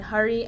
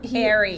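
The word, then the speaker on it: Hari: Evan and Hurry and Isabel. Hurry, but not. It's not hurry. It's not Hurry. Harry. He likes it to be pronounced Harry. It's Harry. Which I can't really say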